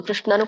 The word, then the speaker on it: ಕೃಷ್ಣ: ನಿಷ್ಟ ಅಲ್ಲ ತೇಶಾಂ ನಿಷ್ಟಕ ಕೃಷ್ಣ ಶನು ಕೃಷ್ಣನು ಕೂಡ ಹಾಗೆ ಬರುತ್ತೆ ಕೃಷ್ಣ ನಾನು ಸ್ವಲ್ಪ ಹೇಳೋದನ